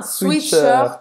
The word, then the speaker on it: sweatshirt: Mas olha como é engraçado, a gente fala, pronuncia como se fosse suite, não é sweatshirt, como em inglês.